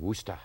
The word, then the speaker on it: Worcester: Yeah, well, when I first came to town, I was looking at it and I was going, Worcester. You know, I was thinking Worcestershire, you know, sauce.